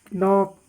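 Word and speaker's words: knock: के silent, नॉक, night, knowledge, के silent.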